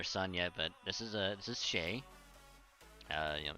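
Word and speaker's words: Chet: I don't know if you met my my other son yet, but this is Shay. You know, it's spelled C-H-E-T, but it's pronounced Shay.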